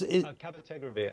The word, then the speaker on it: cabotegravir: Pozniak, a drug which I will mispronounce, is it cabotegravir? That is cabotegravir.